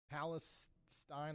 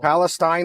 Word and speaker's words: Palestine: Palisine like spine. Okay. Well, so am I saying it right or Palestine like Stein?